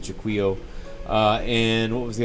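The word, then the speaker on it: Jaquio: Couldn't beat Juo or Jacko, whatever you want to call him. I I pronounce it Jquo.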